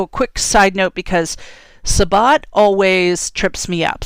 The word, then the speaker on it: Sabbat: So a quick side note, because Sabbat always trips me up. So sometimes I see that word and I pronounce it Shabbat. Shabbat is Jewish.